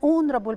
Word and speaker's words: honorable: an important note that the letter h sometimes can be silent we don't pronounce it so here we say an honest man an honorable person an hour in these three words the word starts with h but it is not pronounced we pronounce the o we say own is honorable our so it's a vowel